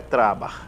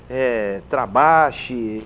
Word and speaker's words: Trabach: O meu sobrenome é de origem alemã. Então, o CH no final da vogal no alemão é pronunciado um R. Então, por isso que é Trabac.